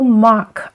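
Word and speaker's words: mǎ: And this little mark on the top of the final is the tone. And this curved one is the third tone. So together, and this is pronounced ma, ma.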